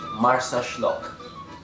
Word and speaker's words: Marsaxlokk: Comment doit-on prononcer Marsa machin chouette? Marsa Schlock.